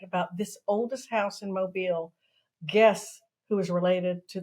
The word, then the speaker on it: Mobile: uh the name mobile which is kind of pronounced like Lucille mobile people we can always